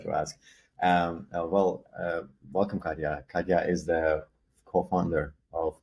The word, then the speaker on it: Katya Putintseva: been a while uh today my guest is Kya is that is that the right way to pronounce yeah great that's was what I was going to ask I forgot to ask um well welcome kadya kadya is the co-founder of briefly bio and